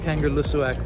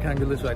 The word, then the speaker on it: Kangerlussuaq: learn how to pronounce kangaroo lussoak properly if you look at it spelled it looks like kangaroo swag but actually the pronunciation yeah okay thank you